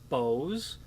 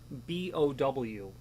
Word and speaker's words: bow: And the way to the word is B-O-W, not bow like you'd have on a boat. It is to rhyme with toe, so it's bow, the bow of a key.